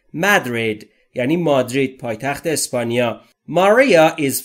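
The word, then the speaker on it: Madrid: از مدرید یعنی مادرید ما در فارسی بهش میگیم مادرید ولی در انگلیسی تلفظش به این صورته مدرید یعنی مادرید پایتخت اسپانیا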